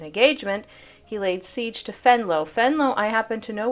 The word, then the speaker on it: Venlo: well by the way it's not venlo it's fenlow yeah this is Dutch which capitulated on September